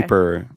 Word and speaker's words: Kuiper: It's Kuiper. Sounded like it could be Cooper, but got it. Okay. Kuiper kind of, I don't know, just seems like the right thing.